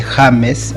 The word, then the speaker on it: James: James es mi nombre, en español se dice James, así como se pronuncia.